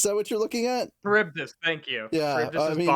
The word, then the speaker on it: Charybdis: Charybdis, thank you.